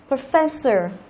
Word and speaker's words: professor: Professor đó, professor là trọng âm ở âm thứ hai.